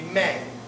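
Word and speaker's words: μή: It's mu eta. How would you pronounce it? Be may. May. Because it's eta would be the long A sound. So it'd be may.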